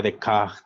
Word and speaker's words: Descartes: un poco de a rené descartes o bueno en francés se pronunciaría de caja más o menos pero bueno para fines prácticos rené descartes él nació